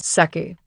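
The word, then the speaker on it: Sec'y: All star number 30, Wonder Woman is credited as sucky. S E C apostrophe Y rhymes with sucky.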